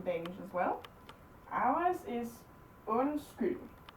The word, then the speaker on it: undskyld: Undskyld. So they're silent, they just change the sound of the rest of it.